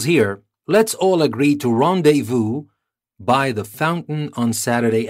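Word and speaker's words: rendez-vous: you can see that I'm trying to pronounce it in a French way because it is a French word and you will know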